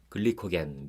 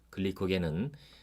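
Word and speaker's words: glycogen: 들어오는 탄수화물이 많으면 몸은 포도당을 좀 더 길게 줄줄이 엮어서 글리코겐, 미국식 발음으로는 글라이코전이라는 물질로 만들어서 간과 근육에 저장을 합니다.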